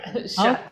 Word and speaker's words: Schutt: Oh, Yeah, Schutt.